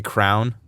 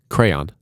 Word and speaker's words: crayon: If you say crown, you don't know how to spell. Yeah, that's a little bold. Crown. Mm-hmm. Crayon I can respect. Crown, absolutely not. How do you say it? Crayon. Okay, yeah, you say it right. Yeah. But crayon, like, it's not right, but it's respectable. Crown is just ridiculous.